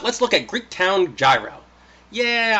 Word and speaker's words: gyro: look at Greek Town gyro yeah I know it's technically pronounced the yo but come on gyro